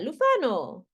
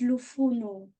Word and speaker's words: Lufuno: Lufano. Hi, Lufano. Hello, ma'am. How are you? I'm good, thanks. Good. Have I pronounced your name correctly? It's Lufuno. Lufuno.